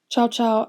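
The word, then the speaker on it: Cao Cao: called cow cow okay which i think is pronounced zaza or something c-a-o space c-a-o who was very respected poet and is very famous and is one of the most important figures in chinese history ciao ciao actually took the little emperor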